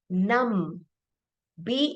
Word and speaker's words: numb: the word is num num B is silent we don't say num I got num no we say I got numb so I hurt my